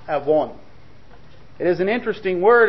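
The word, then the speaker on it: עָוֹן: all the Hebrew word there for iniquity is pronounced Aon it is an interesting word and it's interesting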